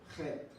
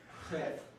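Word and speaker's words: חית: Guttural sound. Guttural. Chet. Try not to spit on someone when you pronouncing these things. Chet. Chet. There's no, you can't really spell out, so I just put K-H. Chet.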